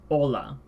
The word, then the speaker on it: hola: is simply silent so I hola the H is not pronounced and then we have